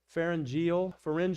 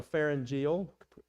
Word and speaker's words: pharyngeal: pharyngeal or pharyngeal, pronounced either way, pharyngeal reflex.